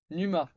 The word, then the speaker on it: Numa: J'ai jamais su prononcer. Numa. Numa. Numa. Avec un U.